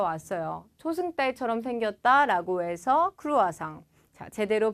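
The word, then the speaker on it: croissant: 초승달 이라는 단어에서 왔어요 초승달처럼 생겼다 라고 해서 크로아상 제대로 발음 해볼게요 리코와 썽 르 코아 쏭 이라고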